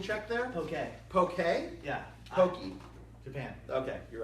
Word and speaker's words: poke: like self-serve poke okay can we get a pronunciation check there okay okay yeah Pokey Japan okay you're right you're right I'm sorry